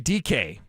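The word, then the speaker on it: Dike: last name correctly, Kamari DK. Tennessee. D-E-K-E? D-I-K-E. Oh, yeah, DK. And so just think like DK Metcalf.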